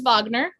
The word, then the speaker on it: Wagner: composer but it starts with the w it's pronounced wagner though so since we're crafty performers all of